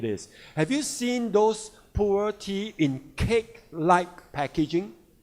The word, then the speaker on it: Pu'er: The traditional Pu'er tea, and they are Pu'er tea in China, pronounced as Pu'er, and then from now on, ATOMY Puer tea will make it Pu'er tea.